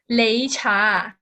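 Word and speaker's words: 擂茶: it's actually pronounced as lei cha so this is a chinese pronunciation les cha in cantonese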